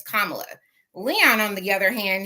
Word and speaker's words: Kamala: expressed once you heard how the correct pronunciation of her name from the DNC, that alerted you to say, okay, her name is Kamala.